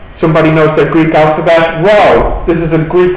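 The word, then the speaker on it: rho: go very good somebody knows the Greek alphabet row this is a Greek letter r r yeah pronounced like this and it was probably I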